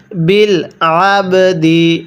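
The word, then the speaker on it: بالعبد: এরপরে বিল হুররি ওয়াল আবদু, ওয়াল আবদু, এরপরে বিল আবদি, এটাকে আইনটাকে গলার মধ্যে চাপ দিয়ে পড়লে আইনটা সহি শুদ্ধ উচ্চারণ হবে, অন্যথায় আমরা অনেকে আইনটাকে হামজা পড়ে ফেলি।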